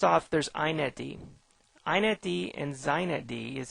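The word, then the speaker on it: xinetd: these things first off there's inetd inetd and zinedi is how this is pronounced are super servers these applications on a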